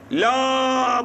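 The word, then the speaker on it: لا: sonunda Lam Elif geliyor Lam Elif okunurken la diye okunuyor La İlahe la derken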